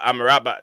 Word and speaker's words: Amrabat: it the right pronunciation is it amrabat or I'm a rabbit I'm a rabbit yeah it's uh I'm a rabbit but people's people pronounce